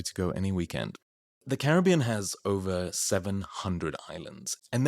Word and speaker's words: Caribbean: The name Caribbean with the primary accent on the third syllable somehow says everything.